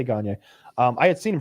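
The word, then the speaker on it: Gane: just remember him training how do you pronounce it right i think so or or gone or gagne i say gagne um i had seen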